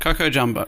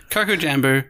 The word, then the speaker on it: Coco Jambo: Well, cuz I used to say Coco Jumbo, but this is spelled J A M B.